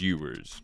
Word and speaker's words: Ewers: Quinn Ewers, and yes, I am saying it correctly. I thought it was Ewers, but it is Ewers.